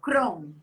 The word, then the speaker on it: Kron: Pronuncia Crown.